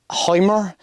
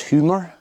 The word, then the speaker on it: HYMER: Like I say HYMER and it's HYMER, and Dusseldorf is Düsseldorf.